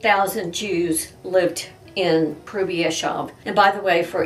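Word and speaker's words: Hrubieszów: of the city so i'm doing my best to actually pronounce the name of the city as the poles would pronounce it 1942 was a dangerous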